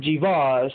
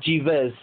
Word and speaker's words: Jeebus: It's actually pronounced not Jeebus, it's just Jeebus.